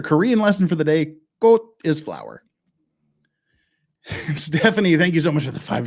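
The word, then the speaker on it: 꽃: if you somewhere it's halfway between a k and a g and it's pronounced with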